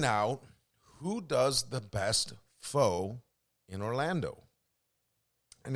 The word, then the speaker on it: pho: And I know I say it wrong. I just say it the way it say it. People they'll say, it's pho.